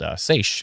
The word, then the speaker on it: seiche: Oh, yeah, and there's also a phenomenon called seiche, which is, I hope I pronounced that right.